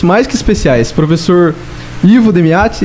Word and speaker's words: Demiate: de entrevistas pessoas mais que especiais, professor Ivo Demiati e professora Adriana Campagnoli. Essa é a pronúncia correta.